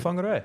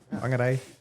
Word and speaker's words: Whangarei: Whangarei. You did well. Whangarei. Your pronunciation today is exceptional.